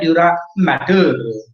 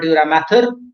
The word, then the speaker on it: dura mater: Outermost protective covering, this one I'm talking about, is called a dura mater. Spelling mistake is here. It should be M-A-T-E-R. Actually, we pronounce matter, M-A-T-H-E-R, but it is matter, remember.